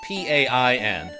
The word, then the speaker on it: pain: In French, it's P-A-I-N. Pain. Spelled like pain.